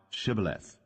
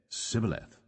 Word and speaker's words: shibboleth: said they unto him say now shibboleth and he said sibileth for he could not frame to pronounce it right then they took him